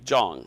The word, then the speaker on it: Jong: they're saying thank you john jong it rhymes with long or song s-o-n-g zhong not john john is